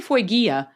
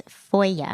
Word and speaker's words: Foyer: Oh, I say Foygia, but yes. How do you say it? I asked them to clarify for me because I was like, Foygia, like it's Foya.